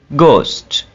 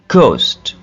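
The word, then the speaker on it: ghost: ठीक है इसी तरह जब जी और एच का कॉमिनेशन होगा तब क्या होगा इसकी मिसाल देख रहे हैं घोस्ट घोस्ट देखिए यहां पे भी एच को हम ड्रॉप कर रहे हैं ठीक है और जब आ और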